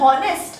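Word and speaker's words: honest: ऑनेस्ट इथे उच्चार आपण ऑनेस्ट असा म्हटलय का आता स्पेलिंग तर आहे एच ओ एन एस आपण ह्याचा उच्चार नेस्ट असा करतो का बघा आपण नेस्ट म्हणतो का नाही आपण काय म्हणतो ऑनेस्ट उच्चार चा कसा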